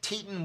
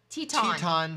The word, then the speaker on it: Teton: Okay, Nancy said, hot dogs you like are pronounced Teton with this accent on the second syllable, just like Grand Teton.